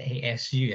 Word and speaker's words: ASU: karena Arizona State University kalau disingkat itu a s dan U. Jadi bacanya ASU ya, adik-adik tolong jangan dibuat mainan ya.